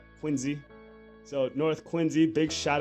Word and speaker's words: Quincy: Told me it wasn't Quincy. Don't pronounce it like you're from Western Mass. Put a Z in there. Quincy.